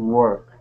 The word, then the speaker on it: work: Walk to work. Yes, walk to work. Good. Okay. Work. Now, so work sounds like bird or sir, work.